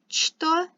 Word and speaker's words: что: And even though it's written что, it's pronounced что, right? So the ch becomes an sh sound.